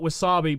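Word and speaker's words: WASAPI: It's to tell you the spelling, and again, I just call it Wasabi, but it is spelt, hold on here, W-A-S-A-P-I.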